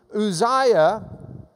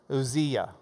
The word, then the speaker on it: Uzziah: Uzziah. Zia. I guess that's an E sound. Uzziah, because you'd have to pronounce the yah at the end in that way.